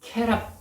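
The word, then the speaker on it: כְּרוּב: 그룹은 케랍 이렇게 발음하는데 그냥 어떤 그룹 얘기가 아니에요.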